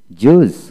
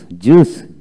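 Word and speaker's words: juice: তারপর আসুন জুস, জুস, JUCE, জুস আই উচ্চারণ হবে না, যেমন JWS, জুস ফলের রস।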